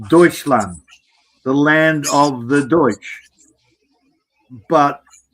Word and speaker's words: Deutsch: Is it Are you saying Dutch land or Deutsch? Deutsch. Deutsch. Okay. D. Yeah. It's spelled D E U T C H.